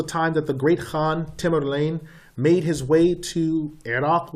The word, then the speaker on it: Tamerlane: Tamerlane was the successor of the last great Khan. And so as Tamerlane began to do, and some people pronounce Tamerlank, as he began to